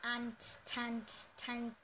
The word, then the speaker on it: Antetokounmpo: Comment down below if you can pronounce his name. It's Giannis Antetokounmpo.